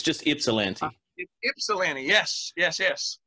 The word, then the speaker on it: Ypsilanti: I've been saying Ypsilanti, so it's just Ypsilanti.